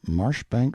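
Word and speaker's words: Marjoribanks: style being The Honorable Kirk cudbright Lanover Marjorie Banks sellers Viscount Berkeley of charmandali Castle Warwickshire pronounced kacubri slanover Marsh Bank sellers VI count Barkley of Chumley Castle Yorkshire he is standing by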